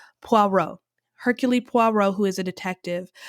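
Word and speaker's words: Poirot: around this character Hercules there's a French way of pronouncing it um puero Hercules who is a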